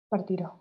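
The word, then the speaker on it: partirò: Partiró, ok.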